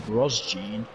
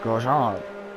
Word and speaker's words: Grosjean: Like the Americans over there, they call him Roman Grosjean. Grosjean. Grosjean. It's French, it's Grosjean.